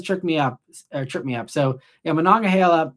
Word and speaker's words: Monongahela: So yeah, Monongahela is how I say that one. These are Pittsburgh related rivers for anyone who's thinking we're talking in Greek here. The Yakagani is how you say that other one there. At least that's the way I say it.